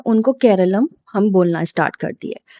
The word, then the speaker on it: Keralam: इसका ये एक इंग्लिश लैंग्वेज है यानी इंग्लिश स्पेलिंग है। तो हम लोगों ने केरलम की जगह पे अपने कॉन्स्टिट्यूशन में केरला लिख दिया।